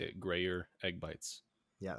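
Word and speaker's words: Gruyère: Well, in case anyone was wondering how to say that, that is how you say it: Grayer egg bites. Yeah, it's Don't let the anyone tell you proper otherwise. French pronunciation.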